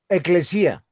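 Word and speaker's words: ekklēsía: Pastor, mire, yo solo tengo yo aquí que eh la palabra iglesia viene del griego eh eh e con e doble k eclesía. Ah, eclesía. Exactamente.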